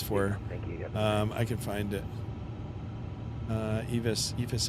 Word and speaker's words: EFIS: EFIS Aviation is the electronic flight instrument system. That's the correct pronunciation.